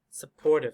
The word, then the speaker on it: supportive: p's here we're gonna go between supportive supportive supportive so three syllables where's the stress supportive supportive stress is